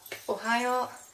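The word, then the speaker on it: おはよう: le matin ça sera Ohio donc là il va faire il faut faire attention à bien prononcer le h et à doubler le O donc le O ce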